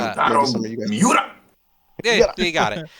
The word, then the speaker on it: Miura: Kentaro Marawa, I don't know how to say his name. Uh, Maybe Kentaro some of you guys. Miura.